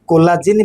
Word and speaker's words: COL1A1: कॉल मतलब collagen, COL1A1, इसको shortcut में कोला बोलते हैं, कोला प्रोनाउंस करते हैं, कोला।